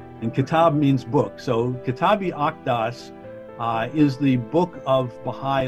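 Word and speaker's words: Kitáb-i-Aqdas: the akedas yes the q is like a k and kitab means book so kitabi octas is the book of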